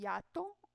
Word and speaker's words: hiato: E, por exemplo, na frase diptongo e hiato, também temos a mesma coisa. A sílaba que vai ter a tonicidade mais forte é o A. Diptongo e hiato. Aí não parece que fica hiato, fica hiato.